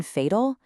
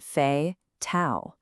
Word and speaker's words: fatal: Why the long A in fatal? It's because we divide it before the T. We get fey, tau. That first syllable, fey, is open, which lets the A say its name. The puzzle is finally coming together.